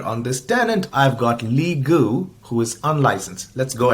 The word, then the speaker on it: Lee Gu: So let's see here on this tenant, I've got Lee Gu, who is unlicensed. Let's go ahead and give Lee a Cloud PC. I go in, click that. It rhymes, by the way.